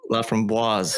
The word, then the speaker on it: LaFramboise: So there's an E after the S, so you pronounce the S. It's LaFramboise. Yeah, it's like an index -1 thing for the French for what you pronounce and what you don't.